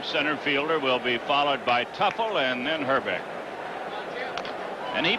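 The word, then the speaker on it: Teufel: young second baseman Tim Tuffle tue fel they pronounce it tupple you'll be playing until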